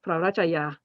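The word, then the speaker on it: พระราชชายา: Usually it's pronounced Prarachaya.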